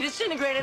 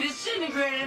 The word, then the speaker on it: disintegrate: Jesus Christ, Doc, you disintegrated Einstein. You disintegrated Einstein. So it's not disintegrate, it's disintegrate. It reduces from 4 to just 3 syllables, and the first T sound disappears.